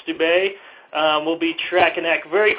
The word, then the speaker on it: Steube: That's Senator Steube, I believe it's pronounced, Steube.